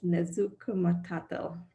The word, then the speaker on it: Nezhukumatathil: I'll start with Audrey, and I butchered Amy's last name. It's Nezhukumtel.